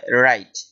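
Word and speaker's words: write: লেখাকে ইংলিশে বলা হয় রাইট। এখানে ডব্লিউ উচ্চারিত হবে না, কারণ এটা সাইলেন্ট লেটার। সাইলেন্ট লেটার উচ্চারিত হয় না।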